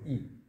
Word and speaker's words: 燚: 我说：“ 我以前也不知道，最近查了才知道，它读异，是火。”